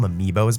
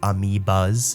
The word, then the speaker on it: amiibo: I just called them amiios by accident, but they're actually called amiias.